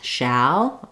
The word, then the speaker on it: shall: So, just think of for the a, the tongue is down in the front and up in the back. Ah. So, you can think about matching, for example, that that shall. My mouth is more open versus say shale.